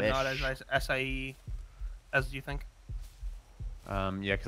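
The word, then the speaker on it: açaí: I kept saying acha. Acha. Acha. Yeah, it's acai. I'm getting a bunch of strong wood. It's probably the longest syllabled word with the least amount of letters.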